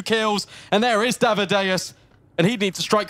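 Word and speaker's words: dav1deuS: Might as well boost up Davideus. Davideus. Davideus. I wanted to say that the whole time. It's just in my head. It's how I remember the pronunciation. Like Amadeus.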